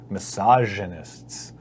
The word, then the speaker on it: misogynists: establish something before that it's misogynist misogynists miss no cuz it needs to be an easily the soft G misogynists but you need to